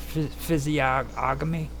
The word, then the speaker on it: physiognomy: But what it basically is this physiognomy, not ognomy.